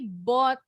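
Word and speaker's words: bought: bacanya seperti itu tapi bot hangon sebentar karena Asa Kita yang perempuan atau Oh sorry Nah tadi bot bacanya huruf u-nya silent huruf g h nya silent kebanyakan dalam bahasa Inggris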